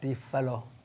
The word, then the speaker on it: Défalo: À Défalé, c'est Défalo. Hein? Normalement, la prononciation, c'est Défalo. Défalo.